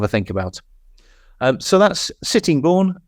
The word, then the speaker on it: Sittingbourne: So that's Sittingbourne, correctly pronounced as I understand it.